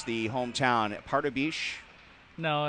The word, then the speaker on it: Pardubice: Now, I'm going to go ahead and try to pronounce the hometown. Pardubice? No, it's... I messed that up, didn't I? No, it's just Pardubice.